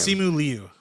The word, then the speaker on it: Simu Liu: Simu Liu. Is that how you pronounce it, Cam? Simu Liu, but yes.